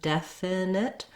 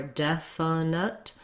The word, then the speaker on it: definite: It doesn't really matter if I do definite or definite. I think I tend to do definite with two I sounds, but generally there's, in those lax, unstressed syllables, you can be somewhere between I and as long as you're short and light and lax near the front.